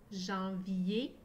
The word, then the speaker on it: janvier: En s'écrit A-N. Jean. Et s'écrit E-R.